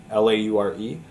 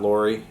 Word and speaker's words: Laure: Isaac and his fiancee Laure, L-A-U-R-E. It's not Lori, it's actually Laure.